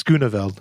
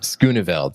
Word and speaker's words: Schooneveld: sorry, I need to ask him how to pronounce his name properly. It's Schooneveld. Schooneveld, thank you.